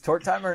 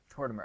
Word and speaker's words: Tortimer: Is TortTimer not right? How do you say it? Tortimer.